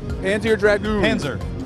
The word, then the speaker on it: Panzer Dragoon: Panzer Dragoon.